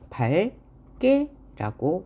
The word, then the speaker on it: 밝게: 그러면 리을로 발음해 줍니다. 자, 그러면 요 예를 볼까요? 이렇게 되어 있어요. 그럼 얘는 어떻게 발음해야 돼요? 이렇게 기역을 탈락시켜 줘야 돼요. 왜? 기역이 연달아 나왔으므로. 그래서 밝게라고 합니다.